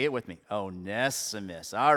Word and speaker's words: Onesimus: I got it spelled out phonetically here. It's a little, okay. Onesimus. Say it with me. Onesimus.